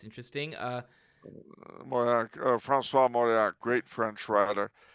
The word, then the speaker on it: Mauriac: I always mispronounce it. Lavransdatter, Kristen Lavransdatter. All right, and then *The Viper's Tangle* by Mariac. It's interesting. Mauriac, Francois Mauriac, great French writer.